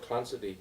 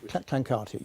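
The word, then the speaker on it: Clancarty: Um now you mentioned Lord Clansidi in in your book and information which Clankarti.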